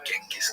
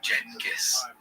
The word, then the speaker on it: Genghis: to say the name Genghis Khan. The name has quite a few pronunciations. Jenis, Chingis, Genghis, and depending on language and history, they're all acceptable.